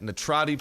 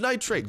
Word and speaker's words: nitrate: Nitrati powder. I'll happily pass up on that. It's pronounced nitrate, guys. I know. Hello. Almost missed out on you. But nitrati just sounds so much cooler.